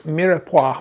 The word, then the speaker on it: mirepoix: Kathy Weimar, how do you pronounce mirepoix from your cookbook?